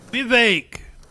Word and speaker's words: Vivek: Vivek. Trump. Rhymes with cake.